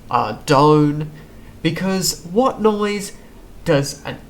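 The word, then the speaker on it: Ardougne: bunch of different ways obviously the correct way is adone because what noise does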